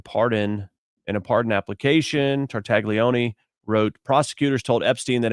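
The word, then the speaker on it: Tartaglione: Tartagleone, who at the time, I'm supposed to say it like this, Nicholas Tartagleion, who at that time was awaiting trial.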